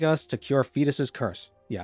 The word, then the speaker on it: Foedus: And as a first job, she'd like us to cure Fetus's curse. Yeah, I can't think of any other way to pronounce that name. It's fetus.